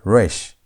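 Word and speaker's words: resh: Then we have rash. Rash. Rash has R sound.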